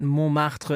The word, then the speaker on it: Montmartre: We're going to look at Montmartre in Paris. Good little pronunciation there, Chris.